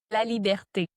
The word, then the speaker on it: Laliberté: Liberte. Laert. Yeah, I I assume that's why I didn't want to try to pronounce it.